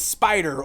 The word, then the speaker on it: SP//dr: big robot that is known as spider or it's spelled SP forward slash /dr I'll be honest I'm